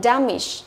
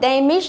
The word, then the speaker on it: damage: Thì cái từ này chúng ta sẽ đọc là damage, không đọc là damage nhớ nhá. Rất nhiều bạn đọc là D là sai. Damage. Damage, tức là trọng âm của nó rơi vào âm thứ nhất.